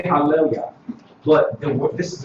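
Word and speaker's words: הללויה: This is the word hallelujah.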